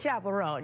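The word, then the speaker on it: Chappell Roan: But it's Chapel Ron.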